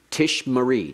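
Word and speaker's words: תִּשְׁמְרִי: singular is Tish Marie Tish Marie two schwas in the middle of the verb means the first one is silent the second one is vocal Tish Marie you will keep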